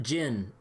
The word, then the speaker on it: Zin: and then, oh yeah, his name is pronounced Jin. And I was like, wait, what? I was like, but it's spelled with a Z.